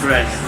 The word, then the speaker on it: Breizh: Someone pronounce to me as Breizh. Breizh.